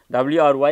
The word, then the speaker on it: wry: W-R-Y is pronounced as wry, R-A-I in a way.